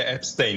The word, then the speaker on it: Epstein: Buradaki şeyiyle Epstein olarak telaffuz ediliyor Amerika'da.